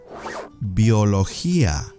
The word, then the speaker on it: biología: fun subjects I had in school next one biología biology Bo law here once again the G